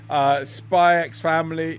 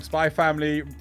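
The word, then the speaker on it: Spy × Family: Spy X Family. Damn it, I said it wrong. Spy Family, JoJo, rest of season in October.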